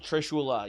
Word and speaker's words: trishula: Uh I had I had a customer at ax throwing recently have a trishula. Am I saying it right? Maybe I'm mixing it up. Is it a trishul? Trishula.